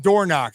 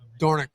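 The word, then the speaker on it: Dornoch: the pronunciation again D Dori Dori dorick not door knock see I want I don't I want to be correct I call him dor all the time but it's dorick dorick I I want to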